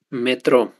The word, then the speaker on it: metrô: É diferente da palavra metro. Metro, a unidade de medida utilizada para medir a nossa altura. Essa não vai receber acento gráfico, porque pertence a uma outra classe de palavras em relação à sílaba tônica, ok? Mas metrô recebe o acento, porque é um oxítona terminada em O.